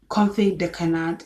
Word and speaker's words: confit de canard: Confit de canard is spelled CONFIT space DE space CANARD.